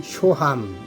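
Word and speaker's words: שהם: 발음은 쇼함 이렇게 하네요.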